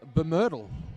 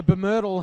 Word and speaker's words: BMRDL: How would you pronounce the Blue Mountains Roller Derby League as a word? Bemyrtle. Bemyrtle. Bemyrtle. Bemyrtle. So Bemyrtle have lead jammer now via Vic Hitter.